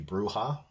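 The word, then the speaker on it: Brujah: The Bruja, as I pronounced them, I was told that it should be Bruja.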